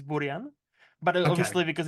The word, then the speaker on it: Burian: Is it Burian? It's not going to be Close enough. Burian, is it? Like That's not going to be. it's close enough. I think like it's Czech pronunciation is Burian, but Okay, obviously because it's like brilliant.